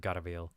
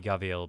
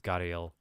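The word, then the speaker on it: gharial: Or Gariel, not Garviel. I combined the two stupid pronunciations there. Should be Gaviel, but in English it's Gariel.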